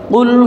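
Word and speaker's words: قُلْ: একটা হলো ছোট কাফ, আর একটা হলো 2 নোক্তাওয়ালা কফ।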